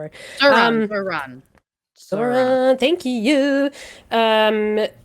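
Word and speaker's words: Zohran: No, it was it was I can't I don't know if I'm pronouncing Zhan or it was Zoran. One of the two. I'm so sorry. Zoran Zoran.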